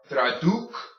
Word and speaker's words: traducción: Tra, du, because remember your U makes an U sound. Tradu, first C is soft, is hard. Traducción, traducción.